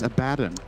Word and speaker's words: Abaddon: Nets him his, I believe, first charge of the Abaddon, game. not even level 6. You have to say. Yeah, Abaddon not level 6. Good. But he will You be said shortly. Abaddon again. It's Abaddon.